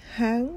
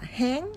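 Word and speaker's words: 香: đọc lại tả Linh Hớn lù tả Linh Hớn lù có nghĩa là đánh bóng lư hương thì các bạn lưu ý Chúng ta đọc là hớn hớn chứ không có đọc là Hán ha các bạn Hán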